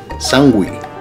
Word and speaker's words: sanguich: to be making a Cuban sandwich or sandwich that's spelled s-a-n-u-i-c sangui the Cuban version of Spanish is of course